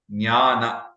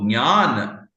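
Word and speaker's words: ज्ञान: So jnana is the usual thing, but it's okay because as long as people understand it, I think it is fine. But technically, the right pronunciation would be like nya, nya.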